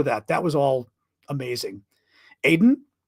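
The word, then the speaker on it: Aden: that was all amazing Aiden did Iden get out pronounced Iden is it really Iden is that true I always thought it was Aiden golf of Iden okay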